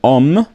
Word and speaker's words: homme: And so, as I've mentioned before, that H is silent in French. And because it is silent, it's also treated as a vowel. And so you'll find this combined lo and homme. Lo and homme.